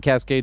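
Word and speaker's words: Kaskade: But Dead Mouse is spelled D E A D M A U5. And Cascade is two K's.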